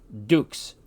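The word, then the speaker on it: dux: Latin X this word which means leader is pronounced Dukes the word for King is Rees Z is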